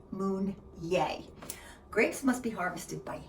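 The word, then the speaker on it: Meunier: and p p m pronounced Moon yay grapes must be harvested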